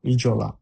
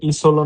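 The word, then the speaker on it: isola: ইতে ইজলা ই এস ও ইজ এল আলা ইজলা এখানে ইসলা না হয়ে ইজলা হার কারণ হচ্ছে যদি এস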